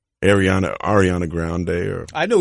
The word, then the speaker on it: Ariana Grande: I get there at ten thirty beautiful studio Ariana Grande II I said her name wrong Arianna Arianna ground there I know who you're talking